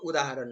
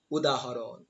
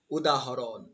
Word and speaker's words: উদাহরণ: আবৃত্তি শব্দটির উচ্চারণ হচ্ছে আবৃত্তি আবৃত্তি আবৃত্তি এই উচ্চারণটি যেভাবে রয়েছে সেভাবেই তোমাদেরকে কিন্তু লিখে দিতে হবে পরবর্তী শব্দটি লক্ষ্য করো উদাহরণ কিন্তু উদাহরণ না এটা উদাহরণ উদাহরণ উদাহরণ পরবর্তী খুব একটা কঠিন শব্দ এই ঋগবেদ